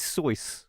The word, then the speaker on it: Seuss: The correct pronunciation of Dr. Seuss is Seuss, like a voice.